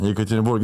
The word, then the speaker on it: Yekaterinburg: Yekaterinburg. Yeah, Yekaterinburg.